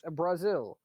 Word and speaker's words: Basil: Brazil. Are you saying that this incredibly technologically advanced place that's actually like doing well is called Brazil? Yes. Bullshit. okay, it's spelled Basil.